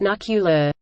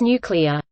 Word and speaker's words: nuclear: It's not pronounced nuclear. It's nuclear. It's spelled nuclear. There is no second U. There is nothing to generate that second U sound.